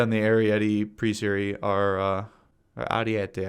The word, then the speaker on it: Ariete: Ariete, I always say it wrong. I've been saying Arietti for years since I was playing Armored Warfare, okay?